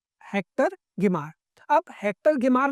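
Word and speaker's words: Hector Guimard: हेक्टर गिमार में डी आपका silent रहेगा, सो दिस इज हेक्टर गिमार।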